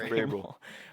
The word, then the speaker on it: Vrabel: Mike Vrabel.